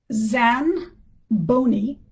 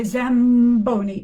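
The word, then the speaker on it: Zanboni: And so you would have to change the n which is pronounced with the tongue, you would change the n to an m.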